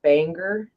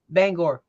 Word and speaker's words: Bangor: for you at the Banger house huh do I say it wrong Bangor Bangor I will be looking for you at the Bangor house Thursday about 6 15.